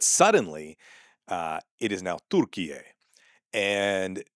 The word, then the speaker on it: Türkiye: But the problem is that yeah, the proper pronunciation is something close to what I'm doing, which is Türkiye, right? You have to hit that Tur Türkiye. And you know, maybe even roll the R a little bit or something.